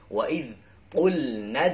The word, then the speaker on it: وَإِذْ قُلْنَا: Wa'id qulna dkhulu hadhil qarniyah.